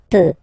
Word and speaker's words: peux: as usual, so je peux, okay? Final X not pronounced here, okay? So you get X, but you don't pronounce it, so basically you get the sound peu, je peux, okay, so I can, je peux, okay.